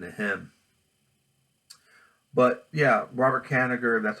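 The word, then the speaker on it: Kanigher: about what happened to him but yeah Robert Canada that's how you say his name said that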